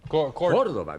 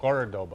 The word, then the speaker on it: Córdoba: Córdoba. The accent's on the first syllable. Córdoba.